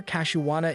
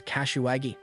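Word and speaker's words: Kashiwada: She adds that she's been practicing and Oda always gives the best reactions whenever Kashiwata is involved, though she mispronounces her name as Kashiwagi.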